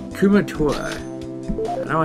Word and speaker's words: Kumatora: Kuratuma. Kumatora. I don't know how I keep getting her name wrong.